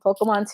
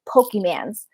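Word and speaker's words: Pokémon: Moon and Pokemon because I was obsessed with Pokemon too as a kid. And the only Pokemon she knew was Pikachu. So every Pokemon was Pikachu, and she didn't pronounce it Pokemon. She said Pokemans.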